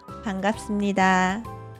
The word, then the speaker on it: 반갑습니다: 만나서 반갑습니다. Aqui, primeiro, quando você diz 반갑습니다, o 비읍 aqui é pronunciado como 미음.